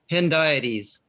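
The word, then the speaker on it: hendiadys: Righteousness and justice are closely related, and when paired, form a henidietis, hope I say these words. How you say it, Bert? Hendiades. Hendiades.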